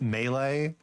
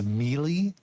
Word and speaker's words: melee: completely mispronounced um like I uh pronounced melee as melee which you know it